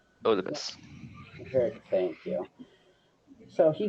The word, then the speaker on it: Oedipus: His name was, I cannot pronounce it, Okibus? Oedipus.